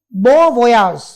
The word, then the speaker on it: bon voyage: It is pronounced as bon voyage.